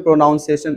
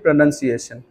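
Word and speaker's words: pronunciation: chart क्या होते हैं पेनेंस आप बोलते हो प्रोनॉन्सिएशन नहीं बोलना चाहिए सब बोलना चाहिए प्रनंसीएशन bill you improve your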